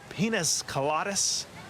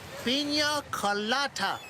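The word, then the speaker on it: piña colada: Carlos, could you bring me another pinas coladas? It's pronounced pina colada.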